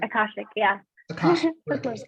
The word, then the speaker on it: Akashic: Okay, and so could you explain what hypnotherapy and Akasha records? Did I say it right? Akashic, yeah.